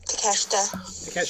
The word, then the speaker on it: Takeshita: Yeah, Takeshita.